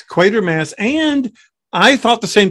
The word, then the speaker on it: Quatermass: always thought it was quarter mass with an r like a quarter coin and not only is it not quarter mask it's equator mass or at least that's